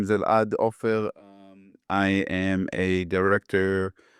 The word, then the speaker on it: Elad Offer: Uh yeah so um like I said my name is Elad Offer um I am a director um I come